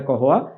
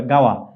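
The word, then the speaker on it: قهوة: বলা হয় কহতুন আচ্ছা এই যে কহ আমরা লিখেছি এটি হচ্ছে শুদ্ধ আরবি মডার্ন স্ট্যান্ডার্ড এরাবিকে এটাকে বলা হয় কহুওয়া আর আরবরা এটাকে যেই নামে বলে আরবরা বলে গাওয়া আপনারা দেখবেন আরবের সবচেয়ে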